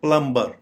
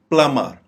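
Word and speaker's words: plumber: जाने वाला वर्ड है प्लंबर ये गलत प्रोनंसिएशन है इसकी दुरुस्त प्रोनंसिएशन में बी साइलेंट हो जाएगा प्लमर प्लमर ना ही हम इसको प्लूम कहेंगे ना ही प्लंबर कहेंगे राद इसको कहेंगे प्लमर अब ये देखिए क्लाइम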